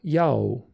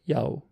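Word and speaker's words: Iao: But it's transcribed iota, alpha, and omega, which is interesting. There's alpha and omega, right? I-A-O, Yao. Keep that in mind, Yao.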